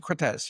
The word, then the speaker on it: Cortez: cause of CI both draw from Am I pronouncing it well? It's the curse of Cy, right? Curse of Cortez.